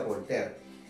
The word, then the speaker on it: Voltaire: Se escribe Voltaire, pero se pronuncia Voltaire.